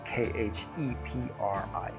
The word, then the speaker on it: Khepri: That's spelled K-H-E-P-R-I, Khepri.